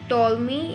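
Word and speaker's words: Ptolemy: And then मतलब ही rejected the concept of टॉलमी। ये मतलब पी जो है वो साइलेंट है, टॉलमी and Euclid, F पी जो साइलेंट है, अबाउट लाइट।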